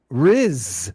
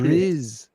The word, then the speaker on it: Rhys: Riz. That's a Welsh name. RHYS. You're going to pronounce that Chris. Riz.